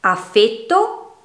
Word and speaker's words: affetto: Affetto oppure affetto. Il primo viene dal verbo affettare, il secondo significa amore. Quindi la E nel primo caso è chiusa, nel secondo è aperta, determina due parole che hanno un significato completamente differente.